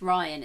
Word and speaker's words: Rian: probably not because of Rian Johnson, because of, like, Is Disney. it Rian or Ryan? Because someone said the other day, it's Ryan, it's the spell it's Rian weird.